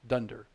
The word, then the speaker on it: dunder: So when I say dunder, this is double underscore class double underscore, which in common parlance in Python circles is pronounced dunder.